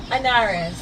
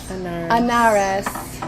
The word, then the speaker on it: Anarres: Anarres. Anarres.